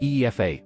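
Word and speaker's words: Aoife: Her name is Epha, pronounced EFA. Bless Irish names.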